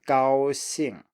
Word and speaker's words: 高兴: You stay high and then you just keep high for the first tone, for the first syllable, and then you drop down. So 高兴, straight combination here.